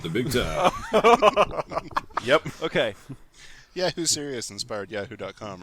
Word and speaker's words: Yahoo Serious: He asked me what I would call our child, and I said, Yahoo Serious. Oh, Serious God. rhymes with Prince's song, Delirious. And this is where the Australian actor-comedian Greg Pede's stage name came from.